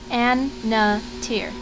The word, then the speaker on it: Annatier: already is Rana backwards It's pronounced an NA tier unlike Rana she doesn't